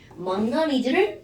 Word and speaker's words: 망가니즈: 망가니즈를 망간이라고 우리가 그냥 읽어버린 거였어요.